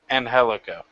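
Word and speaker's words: Angélico: The Trio Championship Tournament, you had Son of Havoc, Everlise, and Angelico. You taught me how to say that. Did I say it right? Spanish teacher? Angelico.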